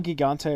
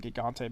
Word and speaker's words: Gigante: Uh El Giggante or Eliante. I know it's a soft G. I just call him Gigante because why not?